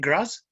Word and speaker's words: Graz: Al-Baghdadi, who is the research physician at Medical University of Graz in Australia, how do you pronounce Graz? Is it Graz?